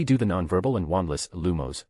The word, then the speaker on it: Lumos: Let's practice the lumos charm.